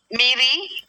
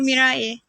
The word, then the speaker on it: Mirai: Miri, correct? It's actually pronounced like Japanese, but it's okay. Please let me know. I don't want to get it wrong. It's not nice. Come on. Mirai.